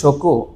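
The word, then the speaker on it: 食: এবং এই কাঞ্জির আরেকটা উচ্চারণ আছে, সেটা হচ্ছে শকু।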